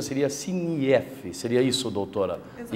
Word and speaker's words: SINIEF: ajustes, eu fiz a pronúncia aqui, SINIEF, a pronúncia seria SINIEF, seria isso, doutora?